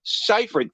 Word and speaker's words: Seyfried: Did they not give them a pronunciation guide to say Seyfried? Seyfried.